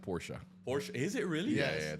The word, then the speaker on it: Porsche: That's like a starter porch. yeah. I would do it. What's a porch? Porch. A Porsche. Porsche. A Porsche. A Porsche. It's pronounced Porsche.